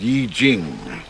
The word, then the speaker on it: I Ching: I Ching. It's pronounced Yi Jing.